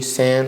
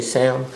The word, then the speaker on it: Sand: I'm at Sam, at Sam, like sand, but no D, sand. A lot of people say Sam. My name is not Sam. Sand, like sand.